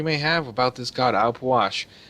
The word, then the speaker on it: Ah Puch: have about this god I'll wash I know most people will say I'll pooch or something like that but it's actually I believe pronounced op wash so not going but